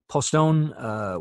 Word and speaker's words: Poston: Postone, which was in Arizona, that was another large one, about 18,000, and that is P-O-S-T-O-N.